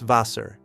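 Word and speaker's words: Wasser: Das vaser. Dasvaser. And notice the w sounds like v. Vaser.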